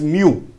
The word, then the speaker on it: mu: Now for micro, then this letter we are using, this is Greek alphabet, this is pronounced as mu.